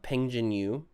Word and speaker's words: Peng Jinyu: So, in 4th place, we have Peng Jinyu. We've been saying his name wrong. I knew it. I was like, Peng Yu does not sound like Peng Jinyu.